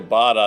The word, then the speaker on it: Bota: I'm not sure where Boda box is from, but I'm very familiar with the Bada box, Dave. yeah. Oh, you say Bada? I say Bada. I think that's the correct pronunciation.